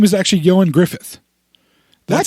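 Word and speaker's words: Ioan Gruffudd: his name is actually yoin Griffith that's how you actually pronounce it yo and Griffith yo and Griffith because the Welsh pronounced things really really really weird like really weird yeah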